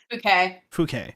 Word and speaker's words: Fouquet: How do you pronounce her name again? Fouquet.